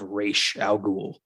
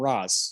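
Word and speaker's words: Ra's al Ghul: beef with it is the mispronunciation of reish al ghul yeah one problem with the movie that's really cool like they just call them roz like that yeah that's that's that's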